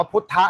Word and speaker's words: พุทธ: พระ องค์ เป็น พุทธะ ก็ ที่ เรา พิมพ์ ว่า พุทธ มัน อ่าน ว่า พุทธะ ไง พระ พุทธเจ้า น่ะ เป็น คน